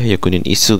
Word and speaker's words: Hyakunin Isshu: isu nih guys y kalau ada tulisan kayak gini tuh bacanya yakunin isu guys Kalau enggak salah ya